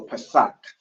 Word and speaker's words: Pesach: So it's a ka at the end, so Pesach.